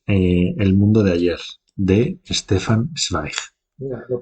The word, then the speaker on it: Stefan Zweig: Y pasamos al tercero y último, que es El mundo de ayer, de Stefan Zweig. Mira, lo pronuncias bien.